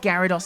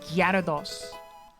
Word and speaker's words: Gyarados: I believe it's it's pronounced Gyarados. Gyarados. But you kind of just don't pronounce the Y.